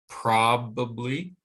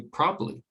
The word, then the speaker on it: probably: The word probably, stressed on the first syllable, probably, okay, but it can be reduced to probably.